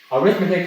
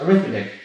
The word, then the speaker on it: arithmetic: Arithmetic has two different types of pronunciations. As a noun, pronounced arithmetic, describe addition, subtraction, multiplication, and division.